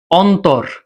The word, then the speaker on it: অন্তর: যেমন দেখো আমি যদি একটা শব্দ বলি অন্তর অন তর দুই অক্ষর দুই অক্ষর বলে এখানে অন্ততর হবে তর সাথে কোন ওকার উচ্চারণ হবে না তর অটা অ থাকবে ওকার হবে না অন্তর কিন্তু আমি যদি